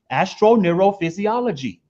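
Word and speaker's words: astroneurophysiology: Astro, as in as above, neuro, as below your mind, physiology, as your body. Astro neurophysiology. Now that's deep.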